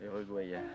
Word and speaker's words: Uruguayen: Il y en a 3 U, difficile à prononcer. Uruguayen. U, Ayen, comme Cayenne, Ayen.